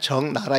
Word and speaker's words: 적나라: 그래서 정나 이게 나라고 썼는데 우리 발음할 땐 정나라 이렇게 발음이 돼야 되거든요.